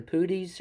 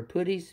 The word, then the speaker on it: puttees: Now, right here is actually, I might pronounce this wrong, it's either Puttees or Puttees, P-U-T-T-E-E-S, Puttees or Puttees.